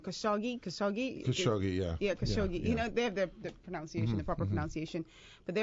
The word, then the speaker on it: Khashoggi: How do you pronounce his name? Khashoggi, yeah.